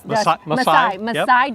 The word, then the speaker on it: Maasai: Maasai Giraffes.